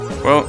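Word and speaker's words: ゑ: We is an obsolete character, so instead of pronouncing it as we, they pronounce it as E, because we doesn't exist anymore.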